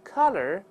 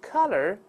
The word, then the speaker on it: color: 那 read on me， the color of the collar。Is white。再来一遍，张开嘴啊，one two，一起来。The color of the collar is white。